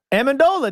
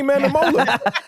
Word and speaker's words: Amendola: So Pronounce it again. Amendola, Danny Amendola. You kind of go ahead. You good, man? Yeah, he botched it that first one. Right. He did. He botched it. Danny Manamola.